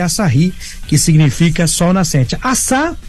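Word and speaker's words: Asahi: assari Olha que legal exatamente como no português o h é mudo o pessoal começou a falar aí aí assi então registrou aí mas na verdade é assahi que significa Sol Nascente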